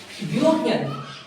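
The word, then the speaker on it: European: देख रहा हूं मैं एक एग्जांपल आता है यूरोपियन ही इज अ यूरोपियन lady या यूरोपियन मैन।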